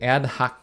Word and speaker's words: ad hoc: going to in this episode get more into ad-hoc commands and between last video and today I actually looked it up so this is the word and hoc ad-hoc and it sounds like an American English it's